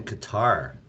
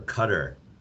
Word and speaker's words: Qatar: happen all right so it's going to be in qatar or cutter people pronounce it differently anyone have any thoughts